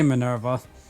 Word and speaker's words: Minerva: that distinction belongs to minerva how do you pronounce it uh people just say minerva okay let's go over that a pilot driven